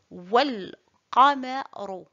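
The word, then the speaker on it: والقمر: Si cet article se trouve au milieu d'une phrase, on ajoute un soukoun sur le lam et on ne prononce pas le alif. Et nous devons faire la liaison du waw avec le lam et dire wal qamaru.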